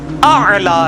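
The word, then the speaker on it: الأعلى: हां वो भी कोई सोखी नहीं चाहिए जनाब आला सुभान रबी आला अब आम लोग क्या पढ़ रहे हैं? सुभान रबीला आला तो कोई पढ़ता ही नहीं है। अला तो लफज़ ही नहीं है। ये आला है आईन के साथ वो यहां पे भी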